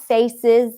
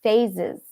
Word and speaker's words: phases: It's not faces, it's phases. We may have pronounced the wrong word at one point, and we confused phases with faces.